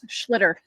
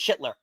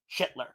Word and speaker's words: Schlittler: looked really good so so far and cam shitler now I will admit this to you guys schlitter I know no no no it's shitler it is iiter it is it was said